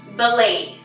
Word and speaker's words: ballet: Ballet. Ballet. La T no tiene sonido.